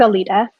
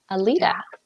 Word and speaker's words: Aleta: Am I pronouncing that correctly? It's Aleta. Aleta.